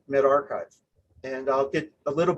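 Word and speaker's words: medRxiv: with the rx in the middle but it's pronounced mid-archive and i'll get a little bit more into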